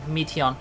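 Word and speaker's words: Meteion: teeth yeah me on i don't like her official pronunciation meteon i prefer mateo and listen well though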